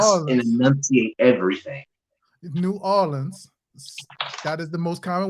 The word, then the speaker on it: New Orleans: New Orleans. That is the most common way you hear New Orleans. Wallens. For some reason, y'all know this. Y'all think we say Nolans, but y'all not realizing there's a break in between that.